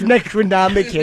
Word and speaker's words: Necronomicon: It was It's pronounced Necronomicin.